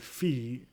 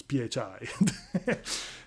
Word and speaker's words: PHI: passive ours Institute Phi I heard someone call it fee it's Phi uh it's about program run